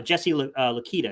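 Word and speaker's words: Jesse Luketa: could play both for you you know uh jesse lakita is how you say his name from penn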